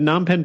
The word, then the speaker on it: Phnom Penh: for one of them i think phnom penh post but non pen post and cambodia daily